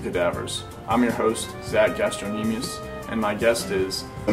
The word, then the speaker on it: Gastrocnemius: I'm your host, Zach Gastrocnemius, and my guest is a man named Mr. Leary. It's pronounced Gastrocnemius, and my name is pronounced Cleary.